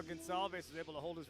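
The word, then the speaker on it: Gonçalves: You saw how Gonalves was able to hold his resolve there and resist the takedown. His last name is spelled G O N C A L V S. Pronounced Gonzav I said gone with the way he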